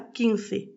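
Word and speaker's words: quince: Ensuite 15 se dira king presque comme en français.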